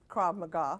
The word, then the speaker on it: Krav Maga: And now this Krav Maga, if I'm saying it right, Krav Maga.